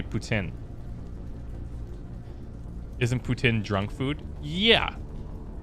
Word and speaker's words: poutine: a big thing but poutine is fine you can say poutine but in quebec they say putin isn't putin drunk food